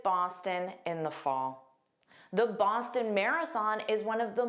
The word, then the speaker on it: Boston: Boston. The issue I hear is that last sound. It needs to be unstressed. So, it sounds like a tin.